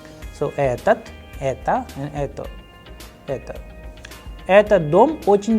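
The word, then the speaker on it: этот: But the pronunciation should be etat because the udarini or stress sign is on a.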